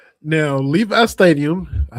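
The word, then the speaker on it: Levi's: Now, Levi Stadium, I said it right this time.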